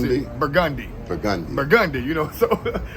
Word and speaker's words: Burgundy: Most people that come here, they'll say, "Take me to Burgundy Street." But we don't pronounce that burgundy. We pronounce it burgundi.